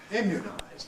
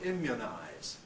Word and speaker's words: immunize: it's really much like the vowel of good for some people immunize but other people have it rather tenser than the vow of good immunize it's really likely end of thank you others again may go all the way to schwar and say imize but I don't really feel that's a mainstream at the moment so that's another place